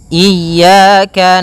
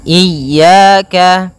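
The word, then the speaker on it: إِيَّاكَ: Pada lafal ya ini hati-hati dalam pelafalannya ada dua kesalahan yang sering terjadi. Yang pertama yaitu dia memanjangkan iya. Nah, seperti itu harusnya dia ee ditekan dan dilembutkan. Iyaka. Iyaka. Nah, kemudian jangan sampai dibaca panjang.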